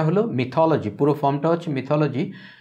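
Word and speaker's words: mythology: প্রথমটা হচ্ছে মিথ, এটা হলো মিথোলজি, পুরো ফর্মটা হচ্ছে মিথোলজি। যদিও সৌরভ গাঙ্গুলি ইন্ডিয়াতে তার দাদাগিরি প্রোগ্রামে বলেন মাইথোলজি, আসলে উচ্চারণটা হবে মিথোলজি, মাইথোলজি হবে না, মিথোলজি হবে।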